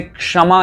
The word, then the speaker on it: क्षमा: विशेष ध्यान देते हैं जैसे क्षमा इसे कहते हैं कुछ लोग चमार कह देते हैं छमा छमा छमा नहीं होता शमा इसमें अदरक और